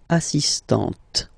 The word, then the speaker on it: assistante: Il est assistant. So don't pronounce the final t here. But for the feminine form, elle est assistante.